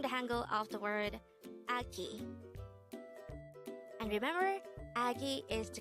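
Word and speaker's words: 아기: The Korean term for a baby or a young person is agi. Again, it's agi. This is pronounced as a two-syllable word. The first syllable is a, and the second syllable is ki.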